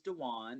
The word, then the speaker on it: Dawaune: find out about me my name's dejuan it's spelled d-a-w-a-u-n-e and you can find